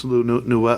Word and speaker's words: Villeneuve: I don't really know much about it, so but this cast is incredible, and I trust in Denis Villeneuve.